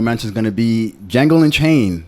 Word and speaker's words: Django: Django. Oh, okay. It's your first time seeing Django. All The right, D cool. is silent. The D is silent.